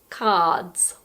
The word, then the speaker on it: cards: Australia we don't pronounce the R and it's pronounced cards cards most of the time when we talk about